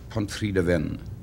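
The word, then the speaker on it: Pontrhydyfen: do you say what looks like pontrain uh Pont Deen Pont Deen pen means the bridge uh we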